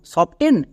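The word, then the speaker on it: soften: এর উচ্চারণ কি করব সফটেন নাকি সফটেন সবাই বুঝতে পারছো এখানে টি সাইলেন্ট কারণ এফ এর পরে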